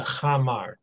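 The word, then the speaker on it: khamar: Now, that's the chamar, all right, which is spelled like this here, right?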